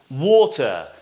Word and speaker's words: water: say whenever you see let me tell you something whenever you see W plus a that a in English is pronounced as o in British accent I mean in British accent we say w war war let's write down some example for example it's just like saying water it's water it's not water it's